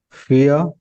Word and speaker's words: vier: So V sound, V letter is always pronounced as fa. Always remember. And there is one more hint. So IE. If it comes together, the sound is ear. Ear, that kind of.